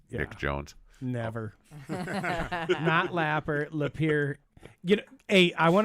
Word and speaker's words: Lapeer: your hometown what's your hometown my hometown is Lapeer Lapeer Michigan not lapper not lapper you can't be spelled that way but it's pronounced Lapeer yes so yeah there's a certain individual that's